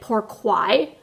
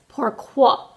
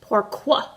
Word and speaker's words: pourquoi: so I googled it to see how to pronounce it so my French was wrong yesterday I called it pourquoi today it's pourquoi because I had to google it to see